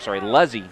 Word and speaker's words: Luzzy: Buzzy and the crew, Luzzy, not Buzzy. I wrote Buzzy because it sounds like, that's how the way the pronunciation sounds like.